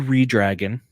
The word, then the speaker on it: ReDRagon: Listen, you knew Redragon, as they're properly pronounced, was going to come down and attack.